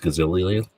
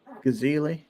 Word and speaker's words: Geisley: It's pronounced Gazilli. Gazili, yeah. Or Geasley, yeah.